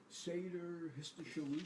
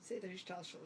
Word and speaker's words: Seder Hishtalshalut: You know, in the sense that the Seder Histoshalut, is that how you pronounce it? the what? The Seder Histoshalut, the order of evolution. Seder Hishtalshalut. Hishtalshalut, yeah.